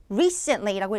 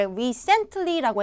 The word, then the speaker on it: recently: recently라고 읽으셔야 되죠. 그래서 대부분의 응시자들이 recently라고 해서 그 단어를 전달하지 못하는 데 있어서 감점을 받는데요. 자, 보세요. 자, 여러분들 이름절에다가 정확하게 강세를 주셔야지 recently, 최근에라는 의미가 레이터들한테 접수가 되는 거예요.